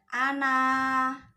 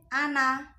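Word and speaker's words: أنا: Nah, ketika diwakofkan itu dibacanya panjang, ana, 2 harokat. Tapi kalau diwasolkan itu pendek, ana, pendek ya, ana. Tapi kalau wakof, ana.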